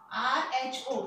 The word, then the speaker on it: rho: R-H-O. It is pronounced as rho.